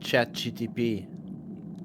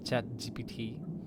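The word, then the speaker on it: ChatGPT: rest like AI and chat GTP. Huh? Huh? Well, a lot of people I don't know why mispronounced it and called it chat GPT instead of chat GT chat GTP instead of chat GPT.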